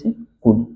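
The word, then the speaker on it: could: कुड है ठीक है यहां पर एल साइलेंट है ठीक इसे क्या पढ़ेंगे कुड S double E सी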